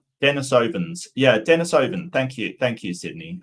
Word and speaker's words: Denisovan: Where's the Denisovian? Denisovans. Yeah, Denisovan. Thank you, Sydney. My pronunciation is terrible.